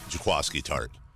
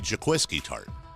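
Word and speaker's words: Jaquiski Tartt: over the years is Tchaikovsky tart which it's already an unusual name but I always want to say Jack whiskey tart because that's how it's spelled qu i sk i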